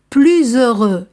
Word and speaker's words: plus heureux: par voyelle plus aimable plus heureux ici aussi je fais la liaison parce que l'adjectif commence par h muet plus heureux devant une voyelle ou